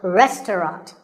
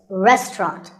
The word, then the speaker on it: restaurant: fancy spelling confuse you the second syllable is just ta and the third is rot so restaurant in british english you might hear just two syllables restaurant that is also correct after you eat at